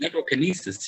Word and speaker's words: Necrokinesis: Or Necrokinesis, how would you pronounce it? Necrokinesis, yeah.